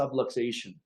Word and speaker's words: subluxation: a very weird word it's called a subluxation kind of rhymes with subway station it's a very strange